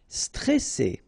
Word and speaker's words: stressé: Okay, remember you've got double S here, so you pronounce it really strong. Well, it's between two vowels. So C, all right. And then here you get this E before the double S, so it will open the pronunciation of the E. Est stressé, stressé.